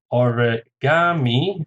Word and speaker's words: origami: Origami, 4 syllables, stresses on the third, origami.